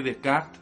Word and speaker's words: Descartes: partiendo del mismo René Descartes, o René Descartes, si lo queremos decir en francés, nos tenéis que permitir